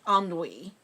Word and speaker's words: ennui: In their that's pronounced ennui, monks sought to escape through excessive sleep, socializing, or aimless reading.